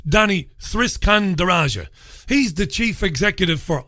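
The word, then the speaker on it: Danny Sriskandarajah: seconds it surprised me well done Kay for pronouncing the guy's name properly it's Danny's risk and eurasia the icon says Danny risk under Asha he's the chief executive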